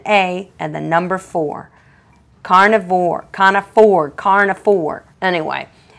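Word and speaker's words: Carna4: If they're telling the truth, and I'm impressed by that, this is Carne for which is spelled C A R N A and the number four. Carnivore.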